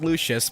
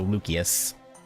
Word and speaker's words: Lucius: And I I want to say it as Lucius, but you guys said it was pronounced with a K like as as like a hard hard C or K. So Lucius Lucius, which again is